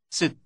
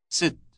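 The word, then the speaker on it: ست: of which is this sit sit it rhymes with the English word word sit how do you address a married woman sit sit if her name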